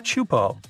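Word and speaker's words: Teahupoʻo: all the name itself is a mouthful it's pronounced chupo and it means broken skulls in tahan yeah you heard that right broken skulls the waves at chupo are massive and can reach up to 23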